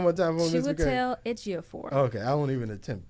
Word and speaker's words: Chiwetel Ejiofor: Chiwetel Ejiofor. See, Miss McCrae. I'm the film girl. That's not how you pronounce it.